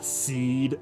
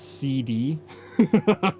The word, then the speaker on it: SeeD: Balam Garden, Seed Academy.